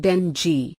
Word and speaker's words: dengue: Dengue, pronounced dengue, is a disease that can be caused by one of 4 related viruses, Ding1, Ding2, Ding3 and Ding4.